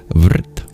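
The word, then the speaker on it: वृत्: In Sanskrit r can be used as a vowel. It's called a vocalic R.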